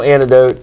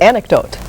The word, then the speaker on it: anecdote: or it didn't and personal antidote is not one of them that is the word anecdote oh I'm saying it